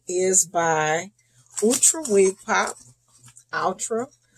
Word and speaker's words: Outre: by ultra wig pop ultra ultra i've heard it pronounced altra so i'll say altra since that's what it looks like it's by wig